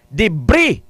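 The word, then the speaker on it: debris: b r i s debre k ta mo debre e pero magpronounce na debre silent s debre now ah par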